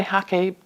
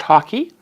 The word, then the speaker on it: hake: I'm just going to use my hake brush, hake brush. This is my Ron Ranson ha- hake hack- ha- hake hake hake brush, h a k e. Um I've heard it's pronounced hockey.